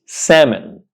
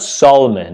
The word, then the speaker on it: salmon: in the sea yeah so this word is pronounced salmon salmon it's not Solomon it's salmon one example today I was